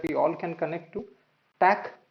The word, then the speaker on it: ThinkTac: all can connect to tack which is spelled as TSC quite often people make it think tank but it's Tac standing for tactile tactile means